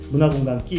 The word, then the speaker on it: KKI: 네, 이름이 뭐냐면 문화공간 KKI, 우리말로 예. 끼라고 읽으면 돼요. 예. 문화공간 끼. KKK 아니고 KKI. KKI입니다.